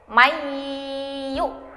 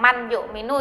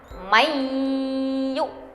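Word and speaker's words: مَنْ يُؤْمِنُ: Contohnya yaitu mayyu'minu. Nah, jadi bukan man yu'minu ya, jadi membacanya dimasukkan ke huruf idgham bigunnah, mayyu'minu.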